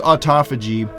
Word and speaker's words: autophagy: have heard it pronounced autophagy or autophagy it's pronounced autophagy and it literally just means self-eating or self-digesting